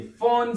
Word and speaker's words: Pfund: Okay, the P is silent, the Pfund series.